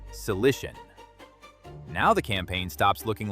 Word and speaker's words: Cilician: Then move to Tarsus, pronounced Tarsus, and the Cilician Gates, pronounced Cilician.